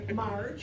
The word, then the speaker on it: Marge: for screw you phics Marge of course rhymes with large and in charge tonight I am not